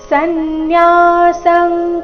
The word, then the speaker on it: ಸನ್ಯಾಸಂ: ಕರ್ಮಣಾಂ ಕೃಷ್ಣ ಸನ್ಯಾಸಂ ಕರ್ಮಣಾಂ ಇಲ್ಲಿ ಎರಡು ಶಬ್ದದ ಕೊನೆಗೆ ಅನುಸ್ವಾರ ಬಂದಿದೆ ಅದರ ಉಚ್ಚಾರಣೆ ಕ ವರ್ಗದ ಅನುನಾಸಿಕ ಗ ರೀತಿ ಬರಬೇಕು ಯಾಕಂದ್ರೆ ಮುಂದಿನ ಶಬ್ದ ಕ ದಿಂದಾನೆ ಶುರುವಾಗ್ತಾ ಇದೆ ಸನ್ಯಾಸಂ ಕರ್ಮಣಾಂ ಕೃಷ್ಣ ಪುನರ್ಯೋಗಂಚ ಶಂಸಸಿ